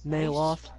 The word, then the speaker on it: Neloth: Neloth.